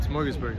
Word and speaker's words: Smorgasburg: you for coming yeah you said it right smorgasburg a lot of people mess it up oh really yeah you